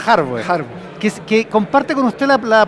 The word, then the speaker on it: Harboe: Pero a Felipe Arboe le pasa lo mismo, que en realidad se pronuncia Harboe.